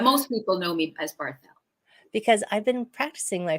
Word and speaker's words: Barthel: Barthel. You do say the TH. Well, Oh, you can, or, I love things French. This is terrible. Barthel. Yes, Barthel is lovely. But most people know me as Barthel.